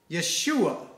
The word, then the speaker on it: Yeshua: And so today's message is about Jesus, Yeshua that is how you say Jesus in Hebrew and our Lord and